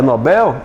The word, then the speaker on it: Nobel: Ele ganhou o prêmio Nobel ou o prêmio Nobel? Oi? É Nobel? É Nobel, é oxítono.